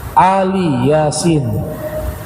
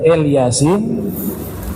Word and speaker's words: Ali Yasin: dalam tafsir yang lainnya disebut Ali Yasin bukan El Yasin tapi Ali Yasin itu di dalam qiraah